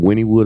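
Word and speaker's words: Wynnewood: are broadcasting live from Winnwood Oklahoma GW Zoo sitting in Joe Exotic TV studio I still can't believe I was pronouncing Winnwood wrong the whole entire time winewood for like months would and even when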